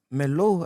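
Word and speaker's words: Merlot: Melots, It's Melo. Is it Melot. Melo or Melot? Not Melot. Is it Melo or Melot? It's Melo. Hey, Kalubuza, hey, It's a Melot.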